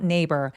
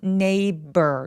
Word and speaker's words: neighbor: neighbor 여기에서의 gh는 묵음이 되고요. 그냥 바로 neighbor 렇게 표현해 주시면 됩니다. 근데 neig이 할 때 b는 입술이 꾹 다 무너지는 소리예요. neighbor neighbor 이렇게요.